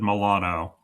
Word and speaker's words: Milano: said Milano, and yeah, which Oh, is how you say Milan in like Italian.